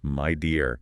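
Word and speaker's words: Meijer: think about how media remember it's pronounced Myer has managed to weave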